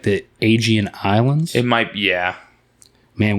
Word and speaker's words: Aegean: what the agent is a-e-g-e-a-n aegean aegean sea i think it's i think it's pronounced aegean and i think it's